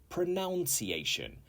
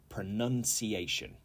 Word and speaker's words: pronunciation: 15 is pronunciation and many people get this wrong they say pronunciation because the verb in its standard form is to pronounce however the noun is pronunciation pronunciation and this is the